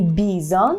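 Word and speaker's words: bizon: це так само моїми Бізон только есть акцент напшет останнього села бачелі Бізон бізон ще маємо тому таку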